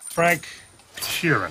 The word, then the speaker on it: Frank Sheeran: Frank Sheeran. Am I saying that right? Yeah, you said it right.